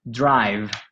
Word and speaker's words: drive: Because the E is not pronounced, the other vowel will be stretched. I. So it won't be one of those short pronunciations like I. Okay. Yeah, it's the long I.